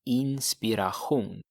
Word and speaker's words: inspiration: Okay, here the pronunciation is important because it's the same spelling as in English. So what you need to say is hon är en inspiration.